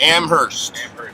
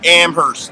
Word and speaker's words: Amherst: they went to amherst amherst you gotta create you got an unchanged well you don't pronounce the h amherst amherst whatever [ __